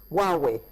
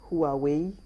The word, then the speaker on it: Huawei: that correctly thank you Huawei well in my country a lot of people say who are we who are away what is Huawei wow